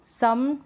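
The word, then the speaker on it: some: कुछ स्पेलिंग्स ऐसी होती है जहाँ पर ओ का उच्चारण अ होता है और कुछ स्पेलिंग्स में ओ का उच्चारण बड़े ऊ यानी बड़े ऊ के रूप में होता है। जैसे कि स्पेलिंग्स आप देख लें, कम, सम, डन, नन। अब यहाँ पर जो ओ है, फिर व्यंजन है और फिर ई है, लेकिन हम ओ कॉम नहीं बोल रहे हैं, हम बोल रहे हैं अ।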